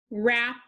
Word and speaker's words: wrap: Wrist, wrap, wren.